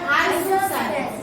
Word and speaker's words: isosceles: Then if two sides are equal, it is called isosceles. So this and this. are isosceles. What is the pronunciation?